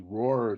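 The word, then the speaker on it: Rohr: This is the Roar Turbo Train. It's spelled R O HR.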